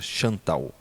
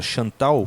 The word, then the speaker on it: Santal: Uns missionários coletaram entre um povo hindu chamado a grafia Santal, mas é eu imagino que a pronúncia seja Chantal.